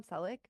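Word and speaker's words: Selick: quote from Henry cic did I say his name right sounded right yep Henry celic I'm when I say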